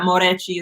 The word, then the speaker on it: Moreci: And I had to fucking justify why my last name is pronounced Moreci and not Moreci. It's like, I know that Moreci is the correct way.